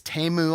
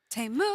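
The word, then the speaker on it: Temu: they don't pronoun it's TAMU I think but they sing it TAMU is that it but it's not timu I've called it timu forever that's not how you say it I totally forgot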